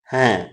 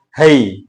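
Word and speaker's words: है: மேரே பரிவார்ன்றதுதான் கரெக்ட்டுங்க மேரே பரிவார் மே பாஞ்ச் லோக் ஹே ஹே போடுல ஹே என்ற வார்த்தையை தான் பயன்படுத்தி இருக்கோம்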